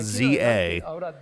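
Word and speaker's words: Z-A: yet but that was Pokemon Legend Za which appears to be the pronunciation they're going with there's no way this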